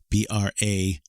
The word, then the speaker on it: brazier: version of this ritual to use abrasure b-r-a-z-i-e-r that's a brazier and that is not the same thing as a Brazier I know it phonetically looks the same but Brazier is spelled b-r-a-s-s-i-e-r-e and yeah I mentioned